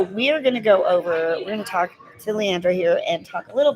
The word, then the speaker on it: Leandra: I have Leandra, I keep saying her name wrong, Leandra Jackson here with doTERRA essential oils.